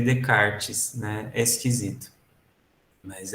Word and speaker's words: Descartes: se escreve Descartes como se escreve Descartes mas se lê de karts na esquisito mas é